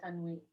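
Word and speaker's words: تنوين: The end sound at the end of the Arabic noun, kitabun, baytun, masjidun, is the Arabic indefinite article corresponding to the English a or n. This na sound is called tanween. Excellent.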